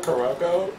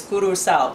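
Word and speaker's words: Curaçao: It's not Caraco? I'm just letting y'all know. It's okay. If I hadn't been there, I probably wouldn't know for sure either. But I've been there. It is curacao. That's how they say it.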